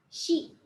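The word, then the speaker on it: し: Nah, ini pelafalannya minasang harus ingat ya. Shi. Kayak nyebut shi perempuan. Jadi bukan si, tapi shi.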